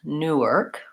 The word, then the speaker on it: Newark: or just an ER Newark Newark where that vowel is really reduced so we don't have much of an ass on there Newark and New York I